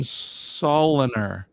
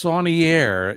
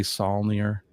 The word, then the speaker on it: Saunier: I thought you pronounced your name Soliner. It's actually it's Saunier if you want to get French on me. Saunier. That's how it's pronounced in French. When I went to Montreal, it's Mr. Saunier. But we say Saulnier or Saulnier. You can say whatever you want.